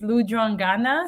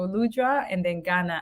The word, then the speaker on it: Lujwangana: me that um but it's lud Ghana so lud and then Ghana at the end I